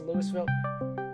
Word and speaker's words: Louisville: It's pronounced Louisville.